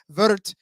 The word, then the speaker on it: Würth: one more time saying according to like Google Germans say it's vert yes like the vert vert 400 I can get that behind that Americans say ER yes I can get that too and Google I AI says it's very unclear so um yeah uh what's